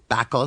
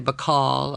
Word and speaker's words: Bacall: Bacall, some would say, Bacall, other. And with the added L, that last syllable was clearly to be pronounced one way, and one way only, call.